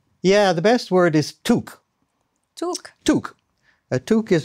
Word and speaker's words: toque: They give toque, right? Maybe Urban Dictionary now has updated it. Maybe. But it's always pronounced toque.